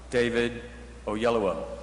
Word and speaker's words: David Oyelowo: And that question is, how the hell do you pronounce his name? So if you will say it with me now, David Oyelowo.